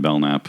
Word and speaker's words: Belknap: Well, you can find me at Belknap with a silent K in the last name on Twitter and Instagram.